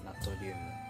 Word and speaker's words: ナトリウム: かというとこの NA は英語でソリウムですがえドイツ語ではえ正しい発音分かりませんがナトリウムみたいな単語ですなので日本語では日本日本語ではナトリウム NA はナトリウムと言いますえ同様にカリウム